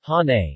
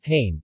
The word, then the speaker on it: Hain: Hain, pronounced Hane, not Hain, comes from the Tanayan term of saying okay or please.